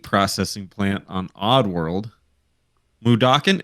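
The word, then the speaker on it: Mudokon: plant on odd world mudoken that's how you say it right mudakin okay I'm gonna take this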